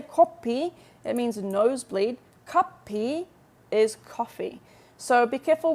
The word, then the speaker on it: 커피: Of course, if you say kopi in Korea and you're ordering a coffee, everyone will know that you mean kopi. Everyone will know that you mean coffee. But it's still a little bit of it's an embarrassing mistake to make. So be careful with your pronunciation. It's kopi, not kopi. All right, because kopi is nosebleed.